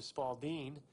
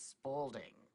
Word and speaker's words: Spalding: it was originally known, became affectionately known as the Spaldeen, based upon the way New Yorkers would pronounce the company name of Spalding. And we called it Spaldeen, because we thought it was called a Spalding. It's Spalding. But I just realized, I was like, oh.